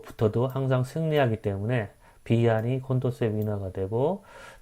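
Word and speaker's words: Condorcet: 이건 불란서 학자의 이름이에요. 그래서 이 세트라고 발음되지 않고 뭐 콘도르세 이렇게 발음한다고 해요.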